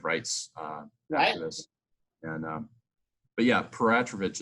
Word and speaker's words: Peratrovich: And but yeah, Peratrovich is how we pronounce it, and it's funny. It's a Russian name because there's a history of Russians in southeastern Alaska and Alaska in general.